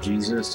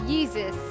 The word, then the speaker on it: Yeezus: his last name and he calls himself Jesus, it totally ruined the whole thing. It's Yeezus. Yeah, Yeezus. I know. How about Yeezus with a Y?